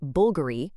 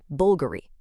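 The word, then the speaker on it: BVLGARI: You see that V, but you're supposed to say a U.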